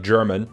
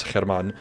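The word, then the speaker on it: Germán: pronunciation uh you you it's spelled like German but I know it's not German it's Herman so there you go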